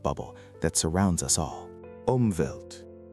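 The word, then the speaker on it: Umwelt: Omvelt.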